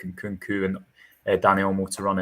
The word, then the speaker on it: Nkunku: You look at the numbers in Cuckoo, and how do you pronounce it? In Nkunku.